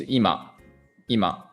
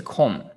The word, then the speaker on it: 今: now or present and kunyami is ima so let's say imanandeska what time is it now imam nanjideska then onyami is kong kong so for example here